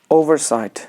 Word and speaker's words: oversight: Next comes oversight. So oversight, you could use over, that should be, the first syllable should be a stress.